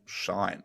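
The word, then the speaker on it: Shein: Tris, you had something around Shine, and I was really curious to learn more about what you found here, or Sheen, Around however you pronounce it. Sheen, yeah. So I was reading the other day.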